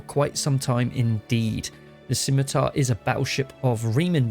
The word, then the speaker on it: Scimitar: going to be the scimitar now thank you for the pronunciation it is a silent c and yet it was